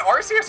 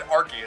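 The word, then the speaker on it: Arceus: legit it's like AR is it rcus or ar he said arus both okay it can be pronounced both ways so now suddenly if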